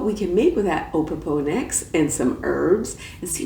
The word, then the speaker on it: Opopanax: Now today, I'm gonna do a profile on Opopanax. And yeah, that was a little hard to pronounce, so I had to ask Google Opopanax for the correct pronunciation.